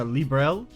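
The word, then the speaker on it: Liberl: libra what are they they pronounce it more like a librel and i always say i want to say libral so i want to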